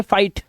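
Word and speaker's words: fight: आई के बाद जीएसटी तो जीएच साइलेंट है तो ये पढ़ेंगे फाइट लाइट राइट नाइट माइट और टाइट तो यहां पे देखा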